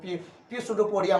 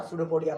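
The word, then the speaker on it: स्यूडोपोडिया: अरे पी silent है वो, पी सुडोपोडिया मत पढ़ना, सुडोपोडिया पढ़ना, बाकी जब तुम लोग तो सही हो, बाकी कुछ बच्चे में हो जाते गड़बड़ी।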